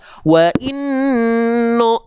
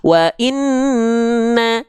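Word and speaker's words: وَإِنَّ: Karena ketika dia berharokat fathah, dia nggak dibaca wa inno, tapi wa inna, dibaca dengan vokal A.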